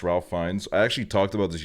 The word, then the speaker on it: Ralph Fiennes: Ralph Fiennes is pronounced Ralph Fiennes.